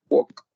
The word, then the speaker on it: walk: Walk. Pasea. Walk, aparte que significa caminar, también significa pasear. ¿Okay? Y la L es muda, ¿sale? No se pronuncia, decimos walk.